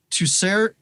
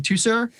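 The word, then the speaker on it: Teucer: So that's from King Tucer. Tucer. I said it wrong before. King Tucer.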